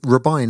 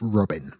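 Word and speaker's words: Robyn: by the way um rubine is how you pronounce the name r-b-y-n um if your name is spell oribi i n you're allowed to call yourself Robin yeah Robin I think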